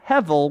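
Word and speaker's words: הבל: b e l but it's pronounced hevel with a V rather than the B um I don't know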